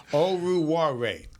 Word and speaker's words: Oruwariye: Oruwariye. Oruwariye. O-R. It's just like it's spelled.